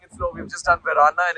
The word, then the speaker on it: Varenna: So we finally reached Lake Como, and we are at the village of Varenna, which is pronounced as Verana.